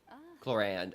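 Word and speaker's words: Clorinde: Hi, Clorand. Clorand. I keep forgetting that's how it's pronounced.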